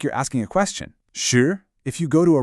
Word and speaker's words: 四: Su, meaning 4, uses the 4th tone. It falls sharply. Say it like you're angrily telling a dog to sit. Si.